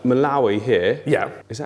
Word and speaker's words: Malawi: said if we're going to be doing like Malawi here yeah is that how you say it